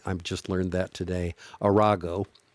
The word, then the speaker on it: Arago: want to start the story with uh um arago uh that's his name that's how you pronounce that I I just learned that today arago not surprising I suppose what he did he